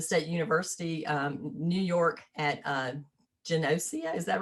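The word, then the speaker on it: Geneseo: He obtained his bachelor's degree from the State University, New York at Genosia. Is that right? Did I pronounce it right?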